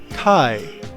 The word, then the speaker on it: Chi: No, that's pronounced Chi.